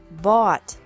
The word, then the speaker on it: bought: bring brought brought buy bought bought catch caught caught fight fought fought seek sought sought teach taught taught think thought thought remember that the g is silent in these verbs verbs with three different